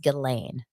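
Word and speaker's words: Ghislaine: singing their song the cutest thing oh it's pronounced gillain thank you so much gilain elain Maxwell so what I find interesting about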